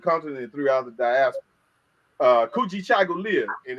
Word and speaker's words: Kujichagulia: Kujichagulia, and it's pronounced exactly like it's spelled. Kujichagulia, which is self-determination.